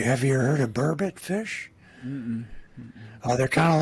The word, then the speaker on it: burbot: Burbot. How do you spell it? Oh, geez, I don't even know. Not bourbon, but burbot.